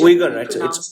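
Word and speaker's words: Uyghur: Wiger is wiger. Wiger. Wiger. So it is pronounced as wiger.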